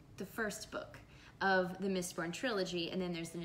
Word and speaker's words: Mistborn: I have to pronounce Mistborn, because when I started telling people about this series, they'd say, Miss Porn? What? No.